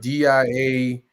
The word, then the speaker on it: diaspora: oh yes now i'm gonna how do you pronounce it despora what d-i-a-s-p-o-r-a diaspora diaspora uh there's some there's it's an